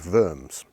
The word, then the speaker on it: Worms: at a court in a place called firms spelled like worms and this court in